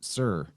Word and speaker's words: Tyre: city of towers and tire by the way is pronounced sir t-y-r-e is pronounced sir